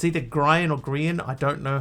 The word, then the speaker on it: Grian: But is it pronounced Grian like Brian, or Grian like Ian?